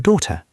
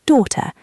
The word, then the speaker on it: daughter: Your children are your son and your daughter. Let us listen to the pronunciation of daughter. It can be a little tricky. Daughter. Daughter. Yes, the g h is silent. You just say daughter.